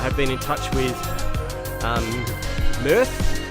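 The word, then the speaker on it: Mearth: I have been in touch with Mirth. That's how you say it. M-I-R-T-H. It's spelt M-E-A-R-T-H, Scooters.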